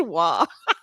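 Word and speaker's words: Roy: in hockey is that the dude's name is spelled R-O-Y, but is pronounced Wah. Like, that's not real and I hate it.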